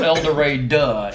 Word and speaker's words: El Dorado: you hit your 40 it's not elder ray duh e-l-d-o-r a-d-u-h-h-h eldorado and yeah yeah because that's just the way people that live there too long pronounce that yeah i'm glad i blew